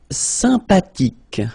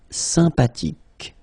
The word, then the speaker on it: sympathique: Sympathique. Remember the H is not pronounced. Sympathique.